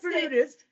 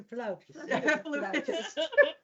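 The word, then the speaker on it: flautist: I would say flutist, but it's a floutist.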